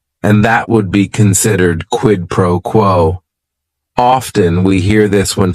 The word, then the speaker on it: quid pro quo: It is 3 words. Each word is only 1 syllable. And if you're saying it together, the stress is kind of on that first word and that last word, quid pro quo.